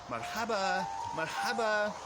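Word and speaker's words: مرحبا: If you take that N sound off the end and pronounce it simply marhaba, it becomes less formal and it becomes hi, marhaba, marhaba.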